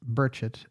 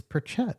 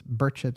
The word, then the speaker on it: Burchett: Yes, he wants it pronounced Burchett and not people try to correct me and say it's Burchett. No, he says it's Burchett and I've been pronouncing it Burchett.